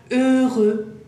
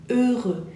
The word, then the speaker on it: heureux: Y la última palabra, para terminar con una sonrisa, heureux. Complicada, ¿sí? H, la sacamos, E, E, el sonido